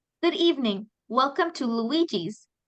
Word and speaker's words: Luigi: so it's this uh it's an Italian name because this is um a setting in an Italian restaurant so it's pronounced Luigi Luigi it's um like Mario